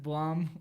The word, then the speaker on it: Blum: Blum, like a plum.